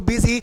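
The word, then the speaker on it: busy: देखिए इसको क्या पढ़ेंगे, बुल पढ़ेंगे, इसको बुस पढ़ेंगे, इसको बिजी और इसको बिजनेस पढ़ेंगे।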